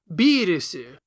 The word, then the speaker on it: Beerus: Therefore he named him after the Japanese approximation of the German pronunciation of virus beerus.